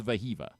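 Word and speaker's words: Wehiwa: But Veha is the way that it's phonetically. His pronunciation guide says vaha. I heard an interview with the Arkansas baseball coach where he said vaha.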